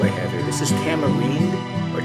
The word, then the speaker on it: tamarindo: This is tamarind, or tamarindo. The Latin countries pronounce it tamarindo.